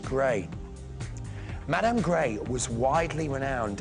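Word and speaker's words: Grès: G-R-E-S, but it's pronounced Grey.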